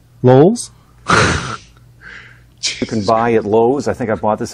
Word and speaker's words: Lowe's: long ago and huh no LS he said no he did not that's how you say it Lowe's I think I bought this he said it right L's he said Lowe's say it dark LS dude there's one L in the word not I know I